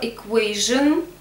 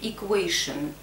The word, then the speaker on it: equation: У слова equation есть еще вариант equation.